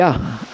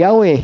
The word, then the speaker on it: Yah: At paano natin nabigkas na ang basa diyan ay Yah at hindi Yahweh, hindi Jehovah?